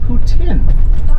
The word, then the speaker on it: poutine: go to Montreal anytime soon the proper French pronunciation is actually Putin for all right leading into the hangover cure